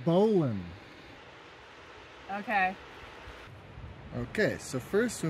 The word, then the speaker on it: bowline: a bow line knot it's pronounced bowan okay okay so first